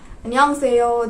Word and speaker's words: 안녕하세요: You pronounce it like 안녕하세요. That's kind of the intonation that you need to do, right?